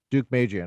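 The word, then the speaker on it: Deukmejian: duke how do you say his name dude duke mejian okay yeah i didn't move to california until 1993.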